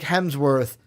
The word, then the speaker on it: Hemsworth: Or Hemsworth. There's no L. I said it right. You just said it right this time. Just like Hemsworth, you can hit the